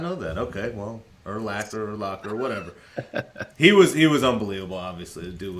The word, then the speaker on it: Urlacher: It's Urlacher? I thought it was Urlacher. Urlacher. It's not Locker. Really? Did you know that? Okay. Yes. I did not know that. Okay, well, Urlacher, whatever.